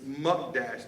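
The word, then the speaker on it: mukdash: in Hebrew ish m-u-k-d-a-s-h I'm pronouncing it wrong just so you all know it's muck Dash that word devoted and in the Hebrew that word devoted monk Dash translates into holy or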